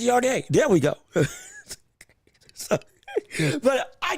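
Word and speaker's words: Yarde: It's not Yard. It's Yardé.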